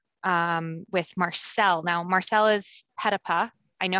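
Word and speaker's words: Petitpas: Now, Marcel is Petapa. I know how to pronounce the name right now.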